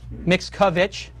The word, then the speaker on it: Mixkovich: Mixkovich. It's like Mixoplex.